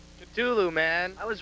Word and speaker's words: Cthulhu: The exact pronunciation. Cthulhu, man.